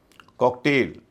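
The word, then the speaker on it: cocktail: कॉकटेल कॉकटेल में भी ए आई दूसरे हिस्से में है। नाउन है। इसके बावजूद उच्चारण ए हो रहा है।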